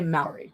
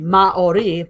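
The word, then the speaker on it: Māori: So they don't really do diphthongs, so it'd be Maori, but they say it quickly because it's the way they pronounce the R a little bit. So it becomes Maori.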